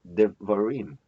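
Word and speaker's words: דְּבָרִים: Since these two does not have any accent mark, so as a rule the accent falls on the last syllable. So rim is the tonic syllable. And then how about ba? Ba is just before the tonic syllable, so it is going to be the pre-tonic syllable. How about de? De is even before the pre-tonic, so this is called pro-pre-tonic. So devarim, devarim, devarim.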